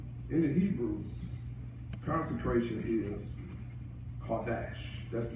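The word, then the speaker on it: קֹדֶשׁ: The in the Hebrew, consecration is Kodesh. That's the pronunciation of it.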